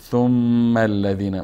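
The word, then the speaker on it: ثم الذين: اینجا میم مشدد است ثم الذین مستقیما الف نطق نمیکنیم ثم الذین میریم روی لام که لام هم مشدد است ثم الذین کف کف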